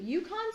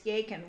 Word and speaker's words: Yacon: Or is it Yukon syrup no, or Yacon? It's called, they said it rhymes with bacon, so it's Yacon, Y-A-C-O-N.